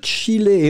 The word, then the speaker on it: chiller: Le verbe chiller, et on prononce bien les deux L.